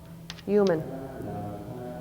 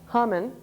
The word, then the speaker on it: human: Human. Not human, but human, because my U is alone in the syllable.